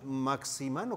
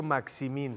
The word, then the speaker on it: Maximín: Él dice, le preguntan, ¿cómo se dice Maximín? Maximán es el de los cuentos. Sí. De de su ronco pecho. Maximín.